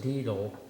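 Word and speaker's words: Deitle: Next, I move to hire Douglas Deedle, and that's spelled D-E-I-T-L-E, effective April 27th, 2020,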